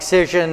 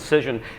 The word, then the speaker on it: Cision: And companies like the one he just mentioned, Cision, they might have, is CISS? CISION, like vision, but with a C.